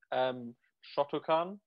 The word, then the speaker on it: Shotokan: So we'll start with Shotokan. Did I pronounce that right?